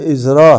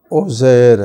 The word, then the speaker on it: عزرا: واپس ہو گئے تو عزیر کا عبرانی ان کے اپنی زبان میں تلفظ کہتے ہیں عزرا ہے، عزرا ہے، اور اس کے عربی نام عزیر ہے، جیسے یسوع کا عربی